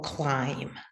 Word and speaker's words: climb: the thumb I so climb now in this world there's no B sound the B is it's